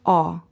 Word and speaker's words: ho: For example, I have in Italian is io ho. You see the letter H written, but you don't ever pronounce it.